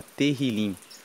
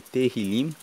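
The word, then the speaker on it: Tehilim: Inclusive, no texto original, o livro de Salmo se chama Terrilim. Se escreve T E H I L I M e Terilim significa louvores.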